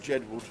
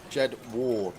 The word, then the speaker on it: Jed Ward: No way is anybody playing football called Jedwood. Jed Ward, not Jed Wood.